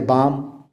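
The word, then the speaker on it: balm: जैसे बाम। अब बाल्म तो नहीं कहते, बाम कहते हैं।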